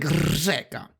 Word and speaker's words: řeka: Řeka. Instead, it's pronounced řeka. One thing that absolutely... How did he pronounce it? It was like řeka. It's not really like that. It's more like řeka.